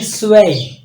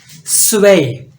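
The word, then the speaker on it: zwei: पास टू स्वय तो ये जो जड है ये बेसिकली एस की आवाज दे रहा है सीन की आवाज दे रहा है तो इसको पढ़ेंगे स्वय स्वय उसके बाद थ्री है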